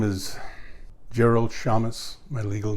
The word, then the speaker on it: Szames: a l d and my last name they'll spell s is in s z as in zebra a m is a Mary e s pronounced Shamus was born two weeks